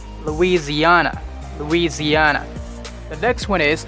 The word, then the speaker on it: Louisiana: louisiana so this one instead of s let's substitute the s with z louisiana louisiana the next one